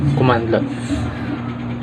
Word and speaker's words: cmdlet: A cmdlet pronounced as a commandlet.